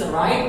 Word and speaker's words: write: रिटन form में है, W यहाँ पे साइलेंट है, इसकी कोई आवाज नहीं है, और जो इस राइट की आवाज शुरू होती है वो र से होती है, इसलिए यहाँ पे इस र का प्रोनाउंस होगा, प्रोनाउंसिएशन इसका यहाँ पे किया जाएगा।